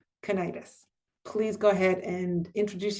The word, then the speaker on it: Kurnides: Ronald Warton and Margaret I apologize we have been saying your name wrong but it's Margaret Kennitis.